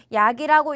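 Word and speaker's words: อยาก: 그러면은 어항은 아까 허잇과 마찬가지로 이때 어항은 소리가 나지 않아요. 그래서 얘를 또 아약이라고 읽으시면 안 되는 거예요. 이해 가시죠? 그래서 얘는 약이라고 읽고요. 마찬가지로 약이라고 읽는데 어떻게 해주셔야 되냐?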